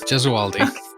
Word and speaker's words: Gesualdi: And I'm so sorry if I butchered your last name. Thanks, Pen. No, you did a great job. Jezaldi. Jezualdi.